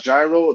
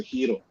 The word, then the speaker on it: gyro: Donna Kebab but yeah it's not gyro the grease pronounce the hero let me get it